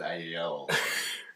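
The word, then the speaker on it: IELLO: So I believe it's pronounced I-Yellow.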